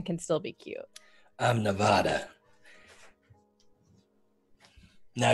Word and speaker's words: Nevada: still be cute I'm Nevada now you pronounce it Nevada if you're from Nevada if you're not you call it Nevada that's how you know